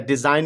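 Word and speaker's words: design: डिजाइन में जी silent है.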